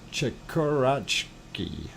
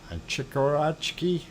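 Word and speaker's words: Chikurachki: this picture though uh chikkurachki chikarachki i do believe is a pronunciation of that volcano and we will go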